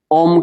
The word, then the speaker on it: ओम: ओम का उच्चारण करना है। लोरी कैसे देते हैं? अ, उ, म ये तीन मंत्र है। ओम बनता है। इसलिए लोरी देना है। कैसे? आ उ हम समझ में आया?